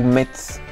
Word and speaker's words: Metz: La ville de Metz, tu la prononces Metz ou Metz?